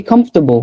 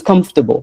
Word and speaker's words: comfortable: So we just say comfortable. Where did the 4 go? I don't know. It's comfortable.